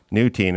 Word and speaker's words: Neutein: Neutein, pronounced Nutine.